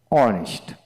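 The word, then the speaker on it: honest: আর অর্থাৎ যে সকল ওয়ার্ড এর ক্ষেত্রে এইচ উচ্চারণ হয় না, এইচের পরবর্তী অক্ষরে উচ্চারণ হয়ে থাকে, সেখানে এন বসে। যেমন অনেস্ট, অনেস্ট, আওয়ার, আওয়ার, যেমন ও ইয়ার, আওয়ার, অনারেবল,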